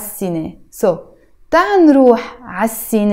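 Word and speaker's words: سينما: let's go Tan row I wrote here I will see nay but we will pronounce it as CNA so tan Roo has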